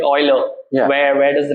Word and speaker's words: Euler: Like Euler, but the actual pronunciation is Euler. Euler. Yeah. So people do call it. I mean, Euler is the right name.